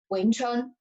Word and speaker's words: Wing Chun: And like what you practice is called Wing Chun, right? Wing Chun. Is that the right pronunciation?